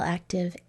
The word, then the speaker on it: active: you did that's right remember that we learned that Ive at the end of a multi-syllable word will make the short I sound e okay great work now